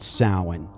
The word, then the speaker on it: Samhain: yeah, it's Samhain.